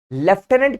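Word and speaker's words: lieutenant: फिर है बेटा लेफ्टिनेंट लेफ्टिनेंट की स्पेलिंग होती है लेफ्टिनेंट बोलते हैं लेकिन स्पेलिंग देखोगे तो लटिनेंट है ल्यूटिनेंट एल आई ई यू टी एल आई ई यू टी ई एन ए एन टी ठीक है लटिनेंट लिखते लटिनेंट है लेकिन बोलते लेफ्टिनेंट हैं।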